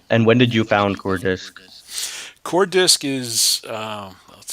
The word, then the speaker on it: Coordsic: the founder of Cortex core discs did I pronounce that right yeah core disc okay and it is a startup developing a